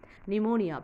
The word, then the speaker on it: pneumonia: Pneumonia, P sound, so you have to pronounce pneumonia.